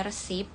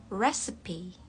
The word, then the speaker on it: recipe: Beda dengan yang tadi, jadi banyak orang mengira pengucapannya itu sama ya, receipt gitu, tapi beda untuk struk itu receipt. Kalau yang ini recipe. Recipe. Recipe. American sama British itu pengucapannya sama, recipe.